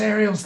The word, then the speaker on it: Ariel: Princess Ariel's the best, and it's pronounced Ariel.